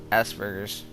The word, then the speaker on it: Asperger's: Anyways, she might have, and if you're wondering, it's Asperger's. Yeah, that's how you pronounce it.